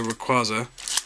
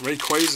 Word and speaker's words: Rayquaza: Let's see what our last booster pack here, featuring Mega Rayquaza, or Rayquaza. Rayquaza is apparently how it's pronounced in the Hooper film that I watched recently.